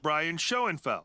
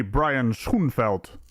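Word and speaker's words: Schoenfeld: correct Karen cam here his name is not pronounced as Brian shenfeld it's actually Brian scheld and on that note for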